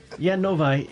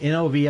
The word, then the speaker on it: Novi: wondered how you pronounce that. Novi. Novi. It's Novi, Novi.